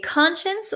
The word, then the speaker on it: conscience: science what is a conscience well let's take a look at the pronunciation first we pronounce it conscience conscience so even though it looks like science here we're gonna say Shins since conscience okay so your conscience